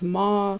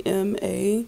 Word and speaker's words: M.A: a invert so young M.A it's how you pronounce it and a huge connection that I noticed with this pronunciation young M.A it sounds like May Eartha Kitt's middle name